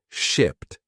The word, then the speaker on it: shipped: talk about this word shipped first the pronunciation notice that at the end there is a t- sound shipped shipped usually we